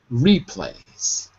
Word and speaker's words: replay: replay right so so the stress is on the first syllable replays replays so this article